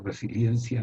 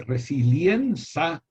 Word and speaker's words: resiliencia: Y la denominan resiliencia. Los dos diptongos son el problema. Porque si se llamase resiliencia, sería fácil. Pero resiliencia es lo que complica el baile.